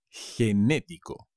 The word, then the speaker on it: genético: ser generoso genetics genético con un acento en la segunda es genético enormes gigante gigante he